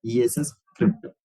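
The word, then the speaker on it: scrypt: It is pronounced as a script, ESS script.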